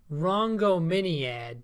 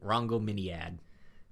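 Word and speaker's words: Rhongomyniad: It's Rongominiad. Rongominiad. Like, I've got the pronunciation on it down.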